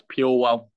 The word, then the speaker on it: Purewal: It's Purewal. So pure and then well.